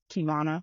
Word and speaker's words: Keyvonna: Yes, because my name Keyvonna, but it's literally spelled like I Love can't tell you that.